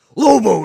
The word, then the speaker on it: Lobo: Bounty Hunter sorry cam you have to say it like this Lobo is a space bounty